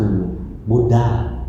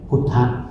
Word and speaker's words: พุทธะ: ท่าน ว่า ท่าน คือ บุดา นะ คน อินเดีย ออก เสียง บุดา ฝรั่ง ออก เสียง บุดด้า คน ไทย ออก เสียง พุทธะ อัน เดียว กัน นะ พุทธะ พุทโธ ซึ่ง